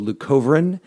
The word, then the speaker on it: leucovorin: So, leucovorin is a type of folic See, I even said it wrong.